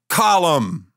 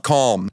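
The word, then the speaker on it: Colm: okay believe in ghost how are you getting two syllables out of calm colum it's an Irish name okay it means dove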